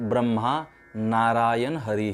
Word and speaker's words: ब्रह्मा नारायण हरि: दूसरा मंत्र दिया है ब्रह्म नारायण हरि ही हरी ही मतलब ब्रह्म नारायण हरि ऐसा आपको उसका उच्चारण करना शुद्ध उच्चारण उसका यह है ब्रह्मा नारायण हरि ही तो अगर चाहे तो